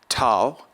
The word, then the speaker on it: tau: Tau will be pronounced like a T in taste, taste.